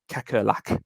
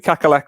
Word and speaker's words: Kakkerlak: Kakalak is how I would pronounce that.